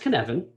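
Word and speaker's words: Cynefin: to introduce you to this framework it's it's pronounced kanevin but it's spelled cinephone which is kind of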